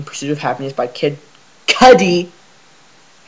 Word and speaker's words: Kid Cudi: i uh re saying pursuit of happiness by kid cuddy i said it right this time because i